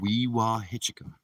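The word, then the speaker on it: Wewahitchka: in a place called Weehawken. I know a lot of people might say that I might have pronounced that wrong. I think I pronounced it right.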